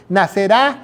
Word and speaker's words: nacerá: nacerá de ti se nacerá nacerá con acento en la A."